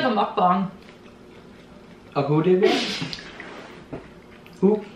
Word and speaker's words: mukbang: Are you saying bong? What is a bong? I'm pretty sure that mukbang. Mukbang? No, but look, I'll show you. It's pronounced. Look it, ready? Mukbang. See? I was right.